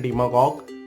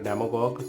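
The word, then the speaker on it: demagogue: Most people pronounce it डेमागॉग which is miss pronunciation of इट। तो इसका right pronunciation है डिमागॉग और डीमा हमारा लोगो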